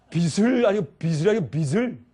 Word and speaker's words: 빚: 근데 목사님 어떤 때 발음할 때 발음이 잘못됐습니다. 빚을 지으십니다. 히읗이 아니고.